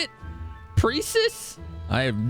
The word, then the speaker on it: Precis: My name is Precis. Precis F. Precis? What? That's how you say it? Precis?